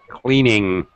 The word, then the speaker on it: cleaning: be careful of in be careful that you don't make a k sound all right cleaning not cleaning very common cleaning cleaning yeah don't